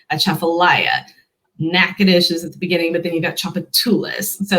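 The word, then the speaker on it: Natchitoches: this slightly differently but this is the louisiana pronunciation of that one yeah not your topic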